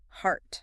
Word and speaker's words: heart: This one is tricky because the letters E A R usually sound like ear, the thing on your head. But in heart it sounds exactly like art. It opens up completely.